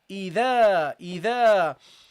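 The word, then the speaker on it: إذا: So you have to pronounce it lightly, guys. So you say here, إِذَا.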